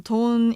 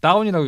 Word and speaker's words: DAWN: 이건 DON이 아니고 새벽이 영어로 하면 DAWN 돈이잖아요. 돈. 예. 네, 뭐 이런 영어 잘 모르시는 분은 저 같은 경우는 다운이라고 읽을 수도 있는데.